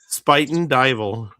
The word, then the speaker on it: Spuyten Duyvil: I don't know how to say it, but Spuyten Duyvil, devil. That in the Bronx. All that. Spuyten Duyvil. How do you say it? Spuyten Duyvil. Spuyten Duyvil? Yep.